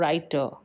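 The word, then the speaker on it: writer: राइटर इन दोनों में शुरू या बीच में आर का उच्चारण हो रहा है लेकिन अंत का आर साइलेंट है।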